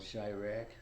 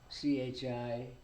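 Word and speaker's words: Chi-Raq: There was a movie made about him called Chirac by Spike Lee. Call what again? It's called Chirac. How you spell that? Chirak. dash RAQ, like Iraq, but Chicago.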